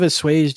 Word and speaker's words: assuage: How do you say that word? Dissuade. Assuage. It's like assuage. Yes, assuage. Let's listen to it on Hang on. assuage. I said it right the first time.